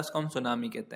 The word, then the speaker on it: tsunami: सुनामी को English में सुनामी कहा जाता है। बस याद रखने वाली बात यह है कि इसकी स्पेलिंग में सबसे शुरू में टी आता है, और ये टी साइलेंट होता है, TSUNAMI।